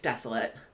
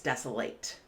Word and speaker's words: desolate: hardships for Borrowers so this word can be pronounced in two ways as an adjective it's desolate and as a verb it's desolate so let me explain